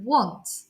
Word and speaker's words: want: can see here that the letter a is in gold and has a little magic wand above it and that just reminds us that we don't pronounce it in the normal way would expect as an a it's changed to an